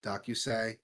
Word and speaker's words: Dōkyūsei: Dōkyūsei, Dōkyūsei. I don't know how to pronounce it. Dōkyūsei.